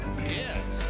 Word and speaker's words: Pyst: Wa pist. P Y S T. It rhymes with heist.